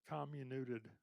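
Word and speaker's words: comminuted: Um, this is a word I always have trouble pronouncing, but communuted fracture. That's perfect.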